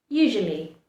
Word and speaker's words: usually: You do not want to pronounce all the letters. Usually, that's the incorrect pronunciation. Usually is the correct pronunciation.